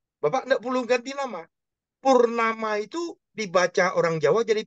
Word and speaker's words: Purnama: gak perlu ganti nama Purnama itu dibaca orang Jawa jadi Purnomo Oh gitu jadi Purnomo oke nah Ini yang jadi masalah saya saya bilang karena nama aslinya Purnama dibacanya Purnomo saya sudah presiden Bro presiden